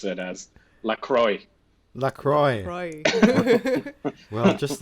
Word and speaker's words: LaCroix: exploring the cult of Lacroix the pronounce that right Lacroix there are two ways of saying it many people who are fancy like to use the French way to go with liqueur and then there is